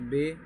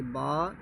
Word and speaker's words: ب: لہجے میں ادا کریں، اردو تلفظ سے پرہیز کریں، یعنی بے، تے، سے، خے، خے، توئیں، زوئیں وغیرہ ہرگز نہ پڑھیں، بلکہ با، تا، سا، شا، خا، قا، ظا پڑھیں۔ یہ اردو طریقہ ہے،